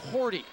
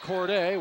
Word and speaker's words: Cordy: And just a correction on our pronunciation, it's Justin Cordy. Dustin Cordy, not Corde. We were told Corde early on, but either way, number 22 for Mass County had a big first half.